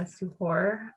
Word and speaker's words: suhoor: about Iftar and the suhoor. Am I pronouncing that right? How do you pronounce that? Yeah, you definitely are. Or suhoor, like that? Sahur, yeah. Suhoor, cool.